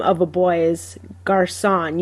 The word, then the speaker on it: garçon: So like the name of a boy is Garçon. You don't say Garcon because it's not a hard C.